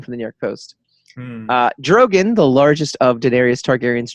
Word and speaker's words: Drogon: Drogon, the largest of Daenerys Targaryen's dragons. Drogon. What is with you in the name? Drogon. Drogon. Drogon? Drogon, not Drogon. Well, it's not Drogan.